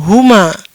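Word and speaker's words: هما: Baiklah, selanjutnya ada teks seperti ini, jangan bingung, hanya ada satu cara untuk membacanya, "huma", oke.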